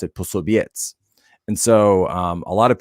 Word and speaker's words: Posobiec: So the C would actually be transliterated as like a TZ kind of sound. And so instead of Posobiec, actually in Polish, you would pronounce it Posobiec.